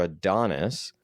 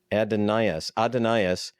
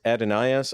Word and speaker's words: Adonais: be he said it's not who Mourns for Adonis but he corrects the pronunciation he says it's who Mourns for adenaeus uh God Dana this is remember we had